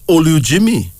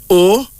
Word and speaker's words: Olujimi: And then there's Olujimi. O-L-U-J-I-M-I.